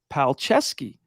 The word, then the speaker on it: Palczewski: out of this preseason you would never know it looking at the way his name is spelled PL p-a-l-c-z-e-w-s-k-i but it is in fact pronounced palcesky what do you think